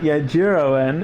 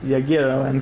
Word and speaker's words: Agirowen: G is always G in Agirowen. And like the G in the name is Agirowen. It's not Agirowen, it's Agirowen, because G always goes G.